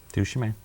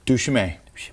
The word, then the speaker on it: duChemin: Anyway, it's from Dave I always pronounce his name right. Duchemin. Duchemin.